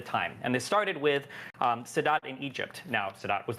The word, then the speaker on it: Sadat: And this started with Sadat in Egypt.